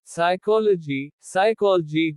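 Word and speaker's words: psychology: P is silent in certain combinations. कुछ शब्दों में P का उच्चारण नहीं होता। साइकोलॉजी मनोविज्ञान।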